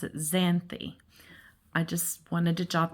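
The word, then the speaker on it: Xanthe: but I do and this is how they pronounce it zany I just wanted to jot that down it's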